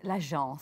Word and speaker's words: L'Agence: Okay, so the name is L'Agence. L'Agence, yes. In French, I'm assuming. It's in French, yes, it's in French.